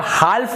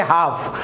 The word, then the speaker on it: half: इसे आप हाल्फ नहीं पढ़ेंगे, इसे आप पढ़ेंगे हाफ। हाफ का मतलब होता है आधा, फुल यानी पूरा, हाफ यानी आधा। तो इसे यहाँ पर आप हाल्फ उच्चारण नहीं करेंगे, यहाँ पर जो L है वो आपका साइलेंट हो जाएगा। तो आप ये ध्यान देंगे, जब भी इस प्रकार से लिखा होगा तो आप इसे हाल्फ नहीं पढ़ेंगे, आप इसे हाफ पढ़ेंगे।